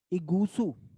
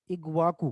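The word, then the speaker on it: Iguaçu: इगूसू, इगूसू ऐसे ही नाम है, IGUSU, इगूसू वाटरफॉल। दिख रहा है? हम्म, हाँ, देखो ये रहा, इग्वाकू लिखा है। इगूसू या इग्वाकू प्रोनाउंसिएशन का अंतर है, ऐसे लिखा हुआ।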